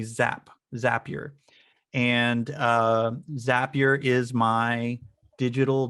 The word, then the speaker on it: Zapier: i fell in love with and i recently learned how to say its name zapier i always called it zapier but it's apparently zap zapier and zapier is my